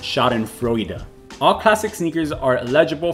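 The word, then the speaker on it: Schadenfreude: fraud pool okay so google's telling me that that word is pronounced shot and froida all classic sneakers are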